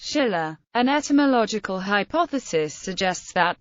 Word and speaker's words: Silla: standardized on the characters, which in modern Korean is pronounced sh-illa.